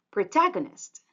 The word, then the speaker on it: protagonist: With the stress, it's protagonist. Again, protagonist. The stressed syllable is the second one, protagonist.